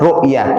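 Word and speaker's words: رؤية: Jangan pakai qof. Salah nanti ya. Pakai hamzah. Rukyah karo rukyah itu ngobatin orang yang kesurupan.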